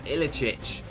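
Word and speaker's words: Iličić: We've got Inform Ilicic. Yeah, that 100%, that's how you pronounce it.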